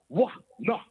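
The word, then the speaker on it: עונה: In the modern Hebrew, in the ancient Hebrew, it is pronounced Wah-nah, which means sexual intercourse, a.k.a.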